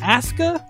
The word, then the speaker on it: Asuka: Wii use or PCS ASA is that how we're saying it w doing one thing right because Japanese pronunciation you never pronounce the you okay it is Asa that's Asuka yeah I can't wait